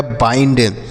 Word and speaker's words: bind: बी से पढ़ेंगे बा, आई के बाद एन डी है तो आई का उच्चारण तो हो गया बाई, एन और डी से हो गया न और ड तो लिखा गया बाइंड।